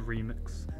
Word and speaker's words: R3MX: remix the r3mx but of course it's supposed to be pronounced as a remix tier two a microphone